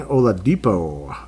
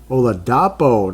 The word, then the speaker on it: Oladapo: Keaton Oladipo. No, Oladapo, not Oladipo. Oladapo. It's spelled differently.